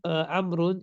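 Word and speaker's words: عمرو: So the proper name Amrun is written with a wow, which is not pronounced.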